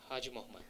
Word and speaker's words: Haji Mohammed: Haji Mohammed. Haji Mohammed. Haji Mohammed. Five syllable are there, right? So first you have to stress on Ha.